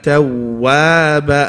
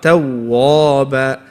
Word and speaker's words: تَوَّابًا: And then the next part of the verse is Innahu kana tawwaba, and not tawwaba. Tawwaba.